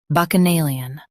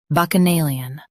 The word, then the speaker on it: Bacchanalian: Bacchanalian. Now read the syllables shown on the screen naturally. Bac. Uh. Nay. Lee. Un. Bacchanalian. Stress nay and keep lee light.